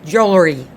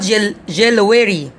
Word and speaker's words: jewelry: right half all right i have another word is jewelry jewelry not jello erie okay be careful not jewelry jewelry jewelry jewelry all right so